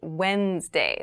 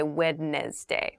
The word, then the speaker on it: Wednesday: of the week but keep in mind this is pronounced Wednesday There's a d there but we don't say wedes day we say Wednesday Wednesday the 18th Wednesday